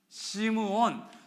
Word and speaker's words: 시므온: 이런 게 예를 들어서 시몬이라는 발음도 구약에서는 어떻게 발음됐을까요? 시므온. 그래서 사도행전에 시몬 베드로가 이야기를 했는데 야고보가 이렇게 이야기를 합니다. 시므온이 말하였으니. 시므온이 이야기했다. 이게 시몬이에요. 그러니까 히브리 사람에게는 시몬, 그리고 헬라 사람에게는 시몬, 히브리 사람에게는 시므온, 이런 것처럼 제가 여러분을 헷갈리게 만드는 거 아니죠?